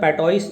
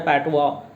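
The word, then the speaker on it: patois: Students, इसके बाद यहाँ पर एक नया वर्ड हमने लिखा है जो कि देखने में पैटोइस लगता है, बट इसके रियल प्रोनाउंसिएशन है पैटवा।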